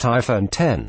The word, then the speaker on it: iPhone X: MSRP of 999 dollars the iPhone 10 pronounced iPhone 10 which shall admit him